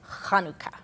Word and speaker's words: Hanukkah: pronounce it which is kanuka okay with that H sound okay um do you